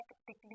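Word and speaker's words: critically: होता है मकक रूप कली नहीं कहते कटली कहते हैं जल्दी से बोला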